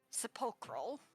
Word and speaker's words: sepulchral: I just can't pronounce it today, so... Sepulchral.